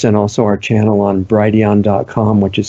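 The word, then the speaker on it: Brighteon: also our channel on Brady on comm which is spelled B righ t EO n like bright Eon bright age and our channel is Brady on comm slash Channel slash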